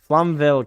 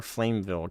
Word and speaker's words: Flamvell: Flamvell counter or Flameville counter. If it's supposed to be Flameville, they didn't spell it right. Flamvell is how it looks like it's supposed to be said.